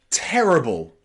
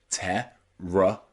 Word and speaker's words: terrible: b l e like terrible terrible notice I'm not saying terrible because the letter i there is not stressed so I just say terriable with that schah Terri terrible the same in possible possible